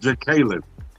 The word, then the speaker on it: Jacqueline: Well, you said Jacqueline, but her name is actually pronounced Jacqueline.